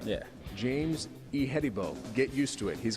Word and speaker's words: Ihedigbo: First of all, give us the proper pronunciation of the last name. It's Ihedigbo. All right. Yeah. James Ihedigbo.